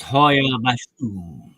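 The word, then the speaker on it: Hoia: That's pronounced Hoya.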